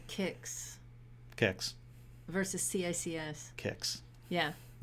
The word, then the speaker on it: CICS: data sets yeah but how do you say kicks kicks versus CICS kicks yeah yeah yeah yes